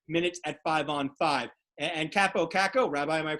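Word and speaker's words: Kakko: And Capo Caco, Rabbi, am I pronouncing that correctly?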